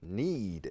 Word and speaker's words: knead: Identify each of the following words or phrases that contain a silent K when pronounced.